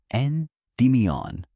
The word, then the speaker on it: Endymion: The story belongs to a shepherd named Endmian. Say the name slowly, the way the old tellers would have. Four soft syllables. N demon.